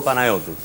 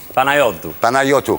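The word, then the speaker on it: Panayiotou: Ça ne poserait pas de problème, mais il faudrait que tout le monde apprenne à prononcer le nom correctement. Yorgos Kyriakos Panayotou. Yorgos Kyriakos Panayitou. Panayotou.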